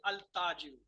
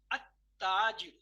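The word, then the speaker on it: التاجر: There is a lam written, but I am not pronouncing. I'm not saying al-tajiru. I'm saying at-tajiru.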